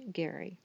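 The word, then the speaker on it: Gerry: I did spell Geri GE rry but it's pronounced Gary so if you see it written you'll know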